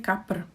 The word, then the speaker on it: kapr: And the last thing is the last word that you might mistaken as one syllable, but actually there are two.